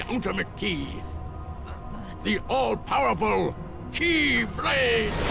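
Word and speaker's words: Keyblade: key the all powerful key blade and yes that's how you pronounce that key blade not the key blades you and I carry key the most ancient m some say Kai but the meaning is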